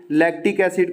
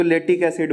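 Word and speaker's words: lactic acid: पता चला कि लैक्टिक एसिड को तो लेटिक एसिड बोलो।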